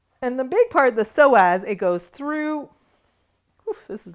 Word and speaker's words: psoas: The psoas muscle, and it's spelled psoas, connects to the inside of your leg.